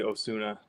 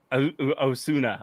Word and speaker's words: Osuna: No, it's actually Osuna. Osuna. Okay, Yeah. see. Well, It's I Hispanic, announced. but it's pronounced Japanese. It sounds Japanese.